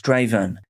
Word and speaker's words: Strathaven: Phoenix Spencer Horn grew up in Strathaven, which I've seen is actually pronounced Straven.